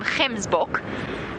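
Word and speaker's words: gemsbok: just by the way we call them K book g e m s b o k k book that hard G and Africans and they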